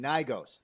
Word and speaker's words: Gnigos: I'm playing Gnigos. The G is silent.